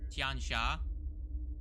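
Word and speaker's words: Tian Xia: know uh okay so here on the wiki pronounced Tian Shaw yeah so tiancha is uh actually you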